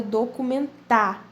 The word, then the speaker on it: documentário: Então, lembrando que paroxítona é uma palavra onde a sua sílaba tônica está na penúltima posição. Então, aí, pessoal, é o caso da palavra documentário, ok? Ela é uma paroxítona acentuada. Letra C.